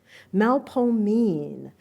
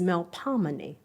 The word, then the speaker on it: Melpomene: Melpomene, New Orleanians pronounce it with a long O sound as in old.